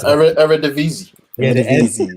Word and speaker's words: Eredivisie: I can't pronounce it. Eredivisie.